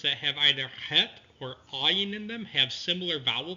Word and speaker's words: Ayin: Ayin is similar to Het. It's pronounced down here, deep in the throat, whereas Aleph is a pause between 2 vowels.